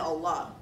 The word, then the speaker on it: Allah: our new units hmm did you need help pronouncing the words Quran had and Allah by the way it's Quran Hajj and Allah my point is when